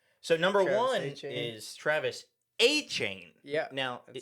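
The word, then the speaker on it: Etienne: So number one is Travis Aane. Yeah. Now that's how you say his name. It's not ETN.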